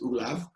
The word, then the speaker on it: Olav: His name is Olav.